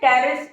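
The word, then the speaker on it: Pteris: ठीक है, टेरिस इनमें P साइलेंट है, साइलोटम और टेरिस में, लेकिन स्पेलिंग इनकी P से है, तो हमने यहाँ पे लिया पूल पार्टी।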